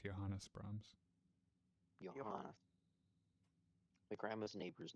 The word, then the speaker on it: Johannes: Johan Brahms. Johannes. His first name is pronounced Johannes Brms.